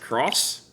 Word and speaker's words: Xenoblade Chronicles X: Or, I've heard it's pronounced Cross.